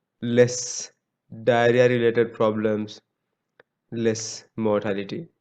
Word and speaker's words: mortality: and white so remember the proper pronunciation is mortality not motility i see even professors